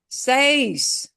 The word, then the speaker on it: seis: Seis. Seis. We pronounce all those letters.